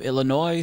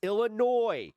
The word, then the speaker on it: Illinois: Stop adding the No more S when pronouncing Illinois. It's like it's annoying. It You annoy me when you mispronounce Illinois.